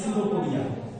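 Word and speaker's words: pseudopodia: इसको बोलते हैं सूडोपोडिया। इसको बोलते हैं, इसको सूडोपोडिया बोलते हैं। सूडोपोडिया हमेशा नीचे होता है कि साइलेंट है।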